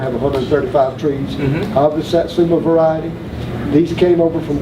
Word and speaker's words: Satsuma: Okay, and there's also a variety, I may be pronouncing the name wrong, but it's Samsur, I think? Satsuma. Satsuma, yes.